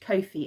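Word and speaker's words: Ko-fi: i have set up a coffee account or a kofi account i think it's pronounced kofi account um because i know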